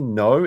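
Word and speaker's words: Noh: It's Mikey No is spelled N-O-H More.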